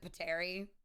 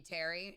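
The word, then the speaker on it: Pteri: know I pronounce wrong I pronounce it pater because I pronounced the P I believe it's just supposed to be Terry no it it it's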